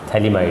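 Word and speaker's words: phthalimide: होता है यहाँ पे, थैलिमाइड है ये, PH थैलिमाइड इसको कहते हैं, PH थैलिमाइड, जब PH इसकी स्पेलिंग है।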